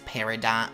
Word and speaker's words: Peridot: Of course, any fans of Steven Universe would know that it is Peridot Village, of course. I would not allow my name to be mispronounced by a couple of clods!